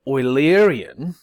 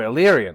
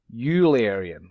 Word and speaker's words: Eulerian: it oil up and think of the stuff that you put in your car so the word oily Aryan which comes from his last name is pronounced as I'm saying it or el-erian like the stuff you